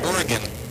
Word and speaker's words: Oregon: Will in Silverton, Oregon. Did you know, Mark, that you pronounce it Oregon, not Oregon?